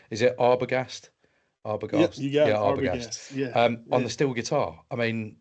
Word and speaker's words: Arbogast: Um and you performed it with Kevin I'll my pronunciation this, but is it Arbogast? Arbogast? Yeah, Arbogast.